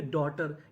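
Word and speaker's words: daughter: जैसे डी ए यू जी एच टी ई आर इसे पढ़ेंगे डॉटर। यहां पे जो यूजी एच है ये हमारा साइलेंट रहेगा।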